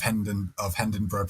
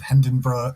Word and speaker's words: Hendenburgh: One side of Hindenburg pronounces it Hindenburg. Everyone on the other side of the street calls it Hindenburg.